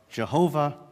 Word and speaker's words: Jehovah: The two most common pronunciations at this point are Jehovah and Yahweh.